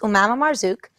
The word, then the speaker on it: Marzuq: we met cool um so it's pronounced malamar Zook and that's about it